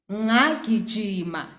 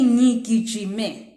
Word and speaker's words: ngigijime: Do not say ngagijima if it's yesterday. Say ngigijime. Do not say ngathenga. Say ngithenge.